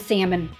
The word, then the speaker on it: salmon: Well, for one, he used to pronounce the L and salmon.